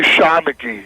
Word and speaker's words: Shanachie: It's actually Shanachie. Shanachie? Yes. Okay, I always say Shanachie.